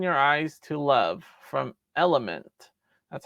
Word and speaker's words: Element: All right, number 19, Open Your Eyes to Love from Element. That's how you pronounce it.